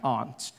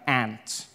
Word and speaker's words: aunt: For instance, I pronounce the opposites of uncle as aunt. I say my aunt. Out here, you say my aunt, which to me is an insect, which made me look